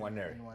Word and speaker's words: Nwaneri: Ethan Nwaneri, is that how you pronounce it? Nwaneri.